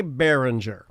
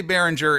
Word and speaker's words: Behringer: get into it dan do you pronounce the audio manufacturer behringer or bay ringer i say behringer i say behringer as well okay the reason i